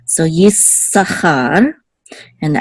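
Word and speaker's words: יששכר: The way it's pronounced is Yissachar. So you kind of just hold it a little bit. Okay, the s sound. So Yissachar.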